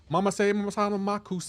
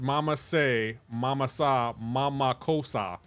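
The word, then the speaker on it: Mama-say, mama-sa, ma-ma-ko-ssa: Bro, you're not saying it right. You're not saying it right. It's Mama Say, Mama Sa, Mama Kosa.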